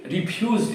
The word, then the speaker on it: refuse: cold drink but he refused it notice that the pronunciation has the stress on the second syllable refuse as opposed to refuse which is a formal word for rubbish reject is quite similar